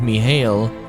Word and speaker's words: Mihail: But yeah, I guess the way they pronounce it is Mihail.